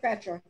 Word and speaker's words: Petra: Go ahead, Petra. All right. Well, Charmaine, it's actually pronounced Petra.